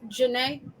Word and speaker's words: Janae: And she told me how to pronounce this. It's Janae.